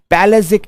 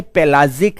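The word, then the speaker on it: pelagic: पैलेजिक। इसे लिखा तो हमने पेलाजिक है, बट इसे पेलाजिक नहीं पढ़ते, इसे पैलेजिक जोन पढ़ते हैं।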